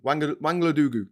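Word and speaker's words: Ouangolodougou: It's really quite a vibrant and interesting place to visit, and it's got a place called Wangolodugu. Wangolodugu, that's pronounced.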